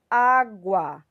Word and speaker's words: água: mas aberto por exemplo a palavra água percebam quem é essa a minha sílaba tônica na palavra água a não é isso então esse a ele vem com um acento agudo tá a palavra lápis